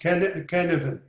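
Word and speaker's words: Cynefin: It spells out C-Y-N-F-I-N. It is pronounced Canavan.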